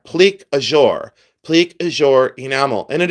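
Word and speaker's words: plique-à-jour: goes completely through that pleure glass and it's pronounced ple aure and it's spelled p l i q u e e space a space j o u r ple azour ple azour enamel and it is a French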